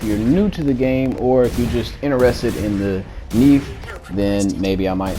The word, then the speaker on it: Nief: Plus exclusive mech, and I'm going to pronounce it Nief because it's spelled like thief, and so it probably rhymes.